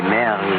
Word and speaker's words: Marie: Mademoiselle, your name in France, we say it Marie. The English way, I think, is so much sweeter. They say Mary.